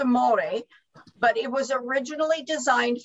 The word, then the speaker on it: Thermore: So the Thermore batting, it's actually pronounced Thermore, but it was originally designed for clothing and miniatures.